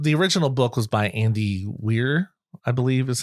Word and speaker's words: Andy Weir: Um but the original book was by Andy Weir I believe is how you pronounce it.